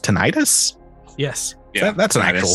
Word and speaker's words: tinnitus: Kind of like, how's this pronounced? Tinnitus?